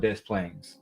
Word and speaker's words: Des Plaines: They were looking for the young lady in Chicago, and they found her in a city called Des Plaines.